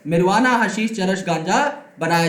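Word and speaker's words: marijuana: जैसे कि मैरिजुआना, इसे मैरिजुआना नहीं बोलते, मैं सिर्फ पढ़ के बता रहा हूं, इट इज मिरवाना। ओके, तो यहां पर जे नहीं होता, साइलेंट है।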